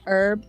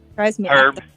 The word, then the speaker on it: herb: British and you say herb and they say herb herb wild wall herb yeah